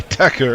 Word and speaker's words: Thakur: just ideas uh says I prefer to pronounce thakur as in Thailand oh sorry Tucker as in Thailand do